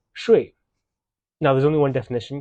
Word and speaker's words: 说: Next, at the bottom of the photo, we have the definition for this character when it's pronounced shui.